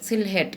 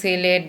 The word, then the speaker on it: Sylhet: যখন আমরা লিখতে যাব তখন এইভাবে বলবো, SYLHET, হেড, সিলহেট। কিন্তু বাংলায় যখন আমরা সুন্দর করে বলবো বা ইংরেজিতে যখন বলবো তখন সিলেট বলবো, উচ্চারণ করব সিলেট, কিন্তু লেখার সময় সিলহেট।